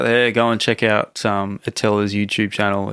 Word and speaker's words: Attila: We pronounce it Attila, but it's actually 2 T's.